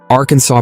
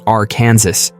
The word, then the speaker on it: Arkansas: Like how you don't pronounce the s in Paris.